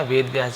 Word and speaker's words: वेदव्यास: जन्मदिन का प्रतीक है वेदव्यासा तो इसे वेदव्यास पढ़ेंगे वेदव्यास वेदव्यास आप सभी जान गए वेदव्यास कौन थे जो जिन्होंने महाभारत की रचना की महाभारत की रचना वेदव्यास जी ने की थी